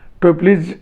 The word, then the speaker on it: Toeplitz: इसमें हम लोग टप्लीज मैट्रिक्स, सर्कुलेंट मैट्रिक्स और हैंकिल मैट्रिक्स के बारे में पढ़ेंगे।